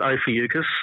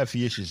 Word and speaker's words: Ophiuchus: Someone just announced that it was there, which I've always pronounced it Ophiuchus. Others are saying Ophiuchus, but yeah, Ophiuchus, which is... Yeah, Ophiuchus is how I've always pronounced it. Yeah, I've been a hard C. I'm, Greek background, it's a Greek language.